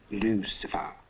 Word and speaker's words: Lucifer: Actually, it's pronounced Lucifer.